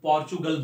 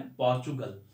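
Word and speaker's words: Portugal: ये पिक्स क्या है, ये पुर्तगाल, इसको इंग्लिश में पोर्चुगल बोलते हैं ना, पुर्तगाल को इंग्लिश में जो प्रोनाउंसिएशन होता है ब्रिटिश इंग्लिश अमेरिकन में पोर्चुगल।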